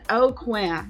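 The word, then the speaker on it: Aucoin: box we will see Kevin O'Quinn yes that's how it's pronounced Oakland he's from south Louisiana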